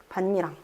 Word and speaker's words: 밭이랑: 그리고 니은과 디귿이 만났어요. 어떻게 될까요? 비음화돼야 되겠죠. 그래서 반니랑이라고 발음을 해주셔야 돼요. 반니랑.